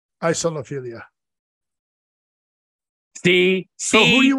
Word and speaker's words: isolophilia: Oh, it is isolo. Isolophilia.